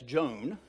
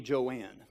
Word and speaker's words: Joanne: some correct and incorrect you look at it you'd think that's Joan okay actually her name is Julie Joanne and what happened was